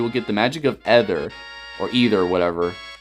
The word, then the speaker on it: Ether: So, it says, hold up the Master Sword and you will get the magic of Ether, or Either, whatever. I think it's Either, yeah, it's supposed to be pronounced Either.